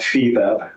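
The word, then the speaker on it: FIBEP: global organization of all media intelligence Services called feev that's spelled f i b as in boy e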